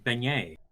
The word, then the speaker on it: beignet: I got the pronunciation wrong. Beignet. Should have remembered my French.